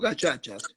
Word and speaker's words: gacaca: Entonces se crearon los gachachas, se escribe gacacas, para los que quieran googlearlo.